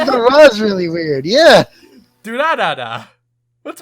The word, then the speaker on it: Durarara: You say it like do la la la almost. No, Durarara. Just do ra ra ra. You say it really fucking oddly. I do? Yeah! I don't know. I say Durarara.